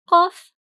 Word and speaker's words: قاف: And remember to pronounce the sound of cough as you draw it. Cough, cough.